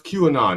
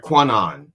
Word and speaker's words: QAnon: Yeah, like that when they tried to pronounce QAnon, it was like Quanon because yeah.